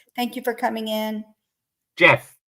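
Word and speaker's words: Geoff: of July yeah weeks GI off I hope I'm saying your name GI off Mitchell thank you for coming in Jeff Jeff is it Jeff yeah okay yes Jeff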